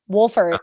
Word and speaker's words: Wohlfort: Well, she saw my name, Wohlfort, and she was like, wait, hold on. It's pronounced Wolf, right? And I was like, yes, it actually is.